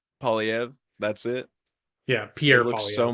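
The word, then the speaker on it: Poilievre: Oh, Polyv. Polyv.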